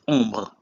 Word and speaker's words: ombre: First example is ombre, which is shade. In this case, OM is pronounced on.